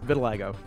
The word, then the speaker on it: vitiligo: You're like, well, I've seen that, but it could be pronounced several ways. Yeah, it's... I thought it was like vitiligo or something. Yeah, vitiligo.